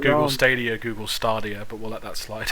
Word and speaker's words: Stadia: i'm pretty sure i'm pretty sure it's steady i don't know there's no r in there i'm just a simple